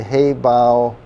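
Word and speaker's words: Hayhow: Haybow, am I pronouncing it right?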